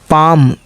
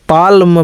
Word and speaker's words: palm: पाम, पाम, देखिए सीधा PA के बाद माँ बोला जा रहा है, पाम। पाल्म बल्कि नहीं बोला जा रहा है, क्यों?